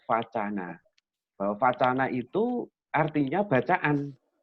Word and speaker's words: vacana: Kalau kita lihat dari bahasa, dari segi bahasa, bahwa wacana awalnya ini dari kata vacana dengan V ya, dengan V, vacana. Itu diambilkan dari mana? Diambilkan dari bahasa Sanskerta, pakai V, bacanya vacana.